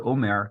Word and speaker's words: Homer: Amsterdam is that the Omer count, for example, we write it with an H in front of it, like in the Spanish way, even though it's not pronounced. So we have an Homer.